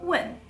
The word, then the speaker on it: 问: And that's the difference between wen and wen.